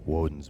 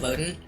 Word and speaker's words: Woden: Also, one-eyed guy's called Woden. Oh. Yeah, I didn't even think of that. They pronounce it more like wooden, so I didn't even pick up on it.